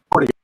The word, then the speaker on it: Portinga: Portinga, not so heavy on the T.